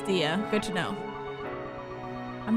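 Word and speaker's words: Diya: but like diamond diamond it's even more like it if you say your name wrong like daya instead of Dee okay so her name is dia good to know I'm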